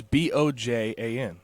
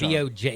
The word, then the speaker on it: Bojan: It's Bojan. That's his wow. name. It's Bojan.